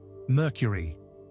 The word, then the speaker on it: Mercury: to America under a completely new sub-brand, Merkur pronounced like Mercury, but in German, based on the European Ford Sierra RS.